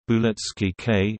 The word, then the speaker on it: Blitzkrieg: Blitzkrieg, German pronunciation, Blitzkrieg, listen, from Blitz, lightning, plus Krieg, war, is